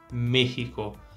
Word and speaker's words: México: que vai pronunciar é agora no espanhol a situação é diferente então se tem a tilde não importa a gente tem que manter esse som de e fechado e é por isso que o nome do país então a gente pronuncia México Vamos repetir México